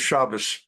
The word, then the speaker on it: Shabbos: Obviously, the proper pronunciation of his name is Shabbos.